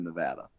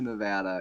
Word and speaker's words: Nevada: Donald Trump during 2016 coming to Nevada and saying Nevada and everyone tried to correct him and he just insisted it was Nevada and it was it was it was a spectacle